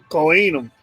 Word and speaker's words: Kohanim: Kohenum. Yeah, that's okay. That's a better pronunciation then.